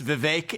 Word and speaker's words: Vivek: for the longest time it's Vivek it rhymes with cake I'd expect someone of